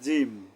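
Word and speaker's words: جيم: ছা ছা এরপরে জিম জিমের উচ্চারণটা হবে শক্তভাবে কিভাবে যে জিহ্বার মাঝখান থেকে তালুর সাথে মিলিয়ে শক্তভাবে জিম জিম শক্তভাবে আমি আরেকবার বলছি জিহ্বার মাঝখানটা উপরের তালুর সাথে মিলিয়ে শক্তভাবে জিম উচ্চারণ করতে হবে জিম জিম এরপরে আসেন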